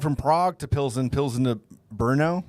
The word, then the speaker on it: Brno: So we went from Prague to Pilsen to Brno. It's like BRNO. Bruno, Oh, it's pronounced Bruno.